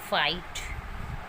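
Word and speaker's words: fight: Next is जी के बाद एच आए तो जी साइलेंट रहता है। For example नाइट, doctor, फाइट।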